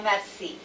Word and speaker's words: merci: Bien merci, tell her. How do you say Bien merci. it? Bien, merci. Merci. Merci. Merci. Like mercy.